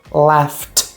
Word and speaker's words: laughed: Ou seja, o E você não pronuncia e o D assume esse som de T. Então, ó, work, worked, stop, stopped, laugh, laughed.